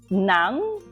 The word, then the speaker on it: ng: pronounce together the words Nang okay you say okay so um sounds like n-a-n-g so you say Nang okay similar to that